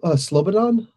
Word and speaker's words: Slobodan: the other one is how to pronounce silver lon oh okay Slobodan silver lon so blond okay honestly like slobodan milosevic alright so um I'll